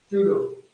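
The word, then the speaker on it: pseudo: इसमें जो पी है अपना ये साइलेंट है, स्यूडो SEUDO स्यूडो, बट पी अपने को इंक्लूड करना है। पी साइलेंट है बट अपने कहे स्यूडो, स्यूडो एल्केलॉइड।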